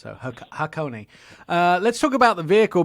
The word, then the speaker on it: Hakone: pronouncing it uh how i thought it was pronounced so hakone let's talk about the vehicle because it comes